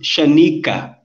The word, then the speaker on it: Shaniqua: shaniqua thing uh-huh yeah we have the of inbundu have this name but it's pronounced shanika shanika okay i don't know